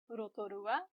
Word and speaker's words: Rotorua: Notice we see some of those vowels we learned about before, o, u, and a, to make Rotorua. And notice this consonant, r, ro, to, ru, a, Rotorua.